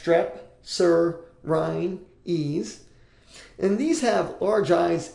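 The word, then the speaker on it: strepsirrhines: a big word there it's pronounced strep Sur Rin ease and these have large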